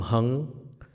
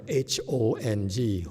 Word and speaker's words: Hong: Oh, by the way, folks, these people are Vietnamese, so don't call them Hung. Hong is pronounced H-O-N-G, Hong.